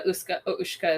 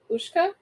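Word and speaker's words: uisge: Guess how Ushka is spelled? Ushka? Yeah. There's gonna be an H in there. There's gonna be a double O. Nope. Fuck. UISG. Why?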